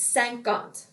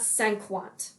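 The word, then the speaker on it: cinquante: times people forget that that q u in french sounds like a k it's sant gant not cenquant that's not a word okay and then we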